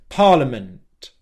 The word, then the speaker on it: parliament: and then you make a small release of air, like this. Parliament, parliament. That's okay. What would be wrong is if he turned that into a big release of air and essentially made another syllable like this.